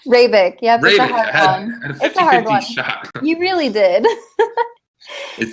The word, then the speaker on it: Hrabik: first um it's rabbit correct rebec yeah you really did if the H sub completely silent completely silent yep it's check I